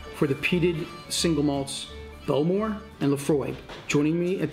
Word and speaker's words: Bowmore: A lot of people in Scotland and other parts of the world call it Bowmore, in fact I used to as well, but the Ilichs, the locals to Islay, have corrected me and made sure that I pronounce it correctly, which is Bowmore.